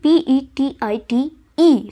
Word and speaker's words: petite: pati, it would be PETIT, E. So E is there, so we won't pronounce E, but we will pronounce the last T, that is petite.